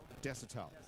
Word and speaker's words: Desotell: Desotell. Desotell. Desotell. D-E-S-O-T-E-L-L. Yeah, it's pretty phonetic. It sounds French.